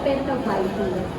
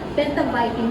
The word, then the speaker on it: Pentavitin: pangatlo would be the pentaviting ala ko dati ang pronunciation niya pentavitin pentaviting pala siya yung pentaviting it locks